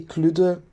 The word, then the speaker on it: Kludde: mythological creature cluda is we say cluda i know it's maybe a little bit difficult to pronounce so cluda is actually